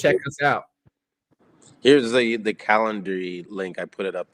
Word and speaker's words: Calendly: Here's the Calendly link.